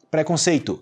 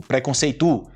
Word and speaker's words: preconceito: preconceito, mas também não não fala assim, tipo, preconceitu e preconceitu não.